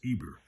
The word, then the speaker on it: Heber: 248 the hebrews are called after heber pronounced eber their great father from